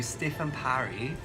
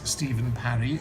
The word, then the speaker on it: Stifyn Parri: Today we're going to interview Stifyn Parri.